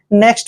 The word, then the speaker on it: knock: Next word है KNOCK, यहाँ पर भी एन से पहले के आया है तो के का उच्चारण हमने नहीं करना है। एन का उच्चारण हम न करेंगे, ओ को ओ की मात्रा लिखेंगे ऐसे, और सी के का उच्चारण कै करेंगे।